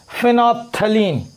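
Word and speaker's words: phenolphthalein: रहा है methyl orange फिनोल्फ्थलीन। यहाँ पे एल साइलेंट रहेगा इसके नाम में, ठीक है, फिनोल्फ्थलीन, उसके बाद लिटमस सोल्यूशन, और तीसरा है मिथाइल ऑरेंज।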